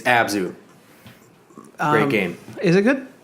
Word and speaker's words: Abzu: Why can't you pronounce it? I don't know. Every time you bring it up. I know. Yep. It's Abzu.